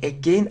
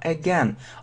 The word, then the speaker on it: again: Да, обращение внимания на произношение. Не again, а again. I'm gonna do it again.